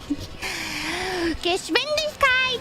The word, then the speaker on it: Geschwindigkeit: Geschwindigkeit!